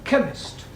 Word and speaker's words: chemist: Ali yes please spell chemist oh blamey k e n chemist does not begin with a k it sounds like it begins with k CH H but but